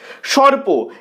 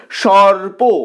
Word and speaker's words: সর্প: মতই উচ্চারিত হচ্ছে পরোয়া সর্প এক্ষেত্রে কিন্তু আমাদের ও নেই ঠিকই তবে উচ্চারণ করার সময় আমরা সর্প এভাবে বলছি সর্প ও আসছে দ্বিতীয় স্বরে তাই প্রথম বর্ণের সাথে যে অ ধ্বনিটা রয়েছে সেটা অ ধ্বনির মতই উচ্চারিত হবে সর্প এবারে চলে আসছি পরবর্তী